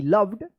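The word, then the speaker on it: loved: इ आया है और इस ओ का अ उच्चारण हो रहा है जैसे कम सम डम डन इसको आप बताए थे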